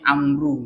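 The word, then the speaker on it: عمرو: Kalau di dalam tulisan begini ya, ada ain mim ro ya tanpa wawu maka itu pasti bacaannya Umar ya. Tapi kalau ada huruf ain, mim dan ro bergandeng kemudian ditambahi wawu itu pasti amru namanya ya. Amru. Jadi bedanya Umar dengan Amru itu ada pada wawu gitu.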